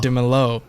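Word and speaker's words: Dímelo: Like, all right, basically like this, like Dimello, or instead of Dimello, like it's on the E, not on the O.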